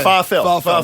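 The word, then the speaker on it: Pharrell: good I went and ask him how he pronounce this it's farel I went farel far you don't know don't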